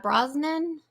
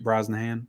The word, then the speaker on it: Brosnahan: She was up against Rachel Brosnan. How do you say? Brosnahan.